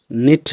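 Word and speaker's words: knit: जैसे निट इसको हम कनिट नहीं बोलेंगे, नी इसको कनी नहीं बोलेंगे, नाइफ इसको हम कनाइफ नहीं बोलेंगे।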